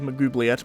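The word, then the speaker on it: Maglubiyet: uh your axe broke magloop mcgovliet is how they pronounce it in this game i always thought it was magoobliet but i could be wrong your axe got broke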